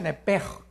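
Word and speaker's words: נֶפֶשׁ: La palabra alma es nepesh, en el hebreo, apúntalo, nepesh. Se pronuncia nepej, porque la CH en hebreo es j, nepej, y la palabra espíritu es ruach, se escribe ruach.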